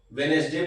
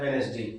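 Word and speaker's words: Wednesday: जैसे कि वेडनेसडे यहां पर देखेंगे डी साइलेंट रहता है। वेडनेसडे पढ़ा जाता है इसको। ठीक है ना? स्पेलिंग भले ही डब्ल्यू ई डी एन ई एस ये सब लिखा हुआ है लेकिन इसको पढ़ा जाता है वेडनेसडे।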